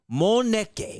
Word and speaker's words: Moneke: Moneke. Is that how you say it? Yeah, that's perfect. I said it right the first time.